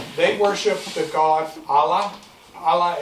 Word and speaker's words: Allah: Allah is actually two words, two syllables. Al just means the. That's the word for Allah. La is God.